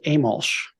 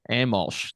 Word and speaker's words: Amolsch: your last name as well exactly it's uh pronounced amalsh amalsh there you go Kevin she's the president a